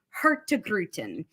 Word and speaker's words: Hurtigruten: slide because it is the phonetic spelling or phonetic saying of our name hurt to gruten I love this and